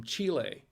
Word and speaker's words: Chile: chile from chile it's a chilean wine from chile it's actually pronounced chile my wife and i want to